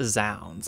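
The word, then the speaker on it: zZounds: Apparently it's pronounced Zounds. I don't understand that. Why have another Z in front of you?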